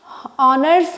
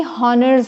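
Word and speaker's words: honours: communication all right और यहां भी ऑनर्स होता है ना कि हनर्स होता है this is also H is silent so there are some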